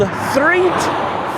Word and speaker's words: Threatt: Usually I'm just cruising down Route 66 to get to this, the old Threatt Filling Station over here. Spelled like threat with an extra T.